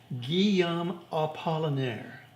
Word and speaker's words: Guillaume Apollinaire: I have phonetic spelling there so I can pronounce it right Guillaume Apollinaire and you can infer whomever it is that's